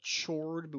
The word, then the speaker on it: chord: a B is a chord now yes I know it's spelled chor do we pronounce it chord that H is completely silent there is another chord